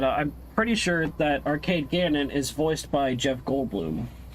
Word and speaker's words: Ganon: It's G A N O N. So like you know how's the the camera company canon? It's that but with a G in front.